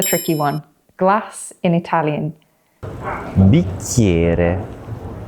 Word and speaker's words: bicchiere: So think about how we pronounce CH in Italian as a hard K sound, and how the letter I before another vowel often sounds like a Y.